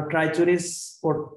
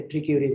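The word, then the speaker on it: Trichuris: important Parasite হচ্ছে আমরা ট্রাইচুরিস পড়েছি আসলে এটার উচ্চারণ বিভিন্ন জায়গায় বিভিন্ন রকম কোন স্পেসিফিক উচ্চারণ নেই তবে গ্লোবালি এটাকে ট্রিকিউরিস বলে ট্রিকিউরিস ভালিস এটাও ডক্যাটের জন্য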